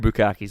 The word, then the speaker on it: bukkake: That's the weird bukkakes, though, where it's like 40 guys. My bukkakes max out at 8. You're pronouncing that wrong, by the way.